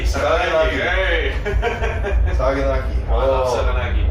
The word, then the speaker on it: Saganaki: We discovered a new fried cheese called Saganaki. Saganaki.